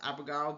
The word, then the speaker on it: abogado: So it's pronounced abogado, but it looks like avocado, right?